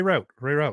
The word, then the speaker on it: Rauth: the only people who said my name right yeah it's route hello yeah i mean